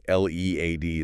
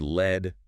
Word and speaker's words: lead: L E A D is another one. Yep. Pronounced lead rhyming with need. That's the verb meaning to guide, to be in charge, to go first. And pronounced led rhyming with bed.